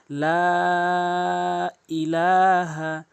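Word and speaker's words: لَا إِلَٰهَ: লা ইলাহা লা ইলাহা এখানে লাকে অবশ্যই তিন আলিফ করে টেনে পড়বেন। উপরে এরকম মোটা চিহ্ন এবং বামে যদি এরকম লম্বা হামজা আসে সেই ক্ষেত্রে তিন আলিফ টেনে পড়তে হয়।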